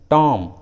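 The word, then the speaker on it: tomb: उसी तरह थम, टॉम, बॉम, लीम, देखिए सभी इंग्लिश वर्ड्स में लास्ट में बी है और उस लास्ट वाले बी के जस्ट पहले एम है, इसलिए सभी इंग्लिश वर्ड्स में बी साइलेंट है, बी को उच्चारण नहीं किया गया है।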